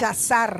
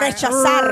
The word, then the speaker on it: rechazar: rechazar I want you to say con la reject. R pronunciada. I want you to say rejection with a arre, rolling a R. rechazar.